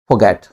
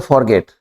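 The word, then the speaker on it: forget: हम बोलते हैं तो अधिकतर लोग बोलते हैं फॉरगेट वोवेल के बाद आर साइलेंट रहता है तो real accent of this word is फोगैट तो यहां पे जो आर है यह हिडन है इसका जो एक्सेंट है आर हिडन है राइट तो हिडन मतलब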